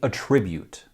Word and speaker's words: attribute: are affordability and reliability when used as a verb attribute is pronounced differently and we say attribute when used as a